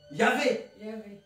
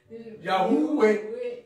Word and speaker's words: Yahweh: Mais si on prononce comme OUE, ça fait Ya. Yahweh. Ça fait Yahweh. En fait, c'est la prononciation qui change entre Yahvé et Yahweh. L'ancienne prononciation, c'était OUE. L'ancienne. À l'époque de Moïse, c'était OUE. Il ne prononçait pas. Voilà, c'est pourquoi on dit Yahweh.